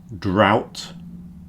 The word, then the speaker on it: drought: The next group are pronounced ow, ow. Plough, drought, and bow.